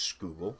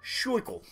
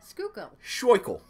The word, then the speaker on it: Schuylkill: CH u IL kil it is not pronounced school it's been ass it's pronounced schickel Schuylkill it's joyful we get